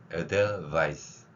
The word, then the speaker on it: Edelweiss: Edelweiss. 한번 해보세요. 바잇 하지 마세요. 저 우리말이 아니라 영어 발음 표기를 훈민정음 방식으로 교체한 겁니다. 그래서 Edelweiss, Weiss 발음하면 돼요.